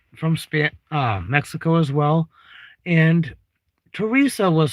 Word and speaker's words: Teresa: Mexico as well, and Teresa was spelled the same way as the French way, TH. And in French, you do not, like, you don't have the sound. This would be Teresa, not Theresa.